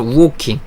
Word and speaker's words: Woking: 아 , 한국어로는 " 오킹 " 처럼 들리는데 , " 우 " 소리 가 들어가 있어 요 . 그러니까 " 우킹 " 이라 고 발음 해야 해 요 .